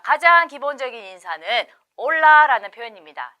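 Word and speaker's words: hola: 이렇게 인사를 하죠 스페인어로는 올라라 합니다 자 이때 발음 하실 때이 아체 부분이 묵음이 그요 홀라라 발음하지 않고 올라라 얘기하는 거죠 그래서 여러분 절대 발음하게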